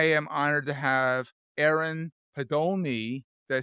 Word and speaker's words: Podolny: But I am honored to have Aaron Podolny.